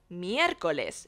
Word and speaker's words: miércoles: Note the accent on the first E. It means we have to place special emphasis on that letter when pronouncing it. It basically lets us know that it's not miércoles or miércoles, but miércoles, meaning Wednesday.